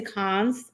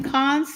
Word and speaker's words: Cannes: I figure I've been to cons, and to help you out, Keith, is niece.